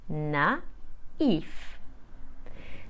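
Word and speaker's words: naïf: similar words the French for naive is spelled n a i f with a Tremor on the eye so I will say na if the feminine of that is spelled n a i v e with a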